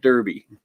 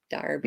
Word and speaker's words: Derby: Not Derby. Derby. Maybe we've called it Derby in the past.